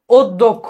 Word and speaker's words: অধ্যক্ষ: দিয়ে দ্বারা অদ দ্বিতীয় অধ্যক্ষ এটা খুবই ইম্পর্টেন্ট অধক্ষ অধ্যক্ষ এই দয় দ উচ্চারণ হবে এবং কয় খিয়র জন্য কয় খ উচ্চারণ হবে অনিঃশেষ অশিক্ষিত এগুলো মোটামুটি